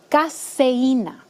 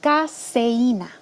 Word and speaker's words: caseína: de vaca, se llama caseína. Se escribe con S, no es lo mismo que la cafeína del café. Se llama caseína.